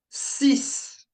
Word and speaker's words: six: So, we've got sis sis sis.